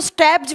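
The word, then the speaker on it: stapes: सबसे पहले का लिखेंगे स्टैपीज। इसको स्टैब्स भी बोला जाता है, कभी कभी ना इसको प्रोनाउंस करते हैं ना स्टैपीज या स्टैब्स भी बोलते हैं, ठीक है।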